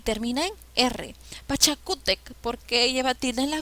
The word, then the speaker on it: Pachacútec: a porque es grave y termina en ere pachacútec porque lleva tilde en la copa porque es grave y